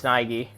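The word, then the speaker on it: Naegi: could go here yet n not actually it's Nigi I'm sorry I with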